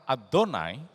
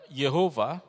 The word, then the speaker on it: Adonai: Nah, nanti kita akan lihat bahwa kata Adonai harus diucapkan Adonai, tidak boleh diucapkan dengan yang lain. Mungkin ada yang mengatakan Yehova, itu salah, tidak ada di dalam bahasa Ibrani. Tetragrammaton Yod-He-Waw-He tidak bisa dibaca yang lain kecuali Adonai saja.